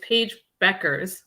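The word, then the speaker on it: Paige Bueckers: It's Paige Beckers, even though it has a U in it.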